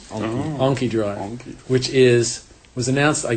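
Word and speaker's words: Anki Drive: It's actually how it's pronounced. AnkiDrive.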